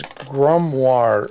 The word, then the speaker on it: grimoire: Amanda Veldeman says grimoire is how it's pronounced.